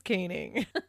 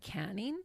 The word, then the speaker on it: caning: So at first I was like, canning? But there's only one end, so I'm pretty sure it's pronounced caning, which is basically getting